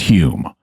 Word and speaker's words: Home: steroids yeah so Dei his name is spelled uh home but it's pronounced Hume um and his name was Daniel dunglas Hume he was a 19th